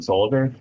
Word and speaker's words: Solleder: Um, Hey everyone, I have with me John Solleder.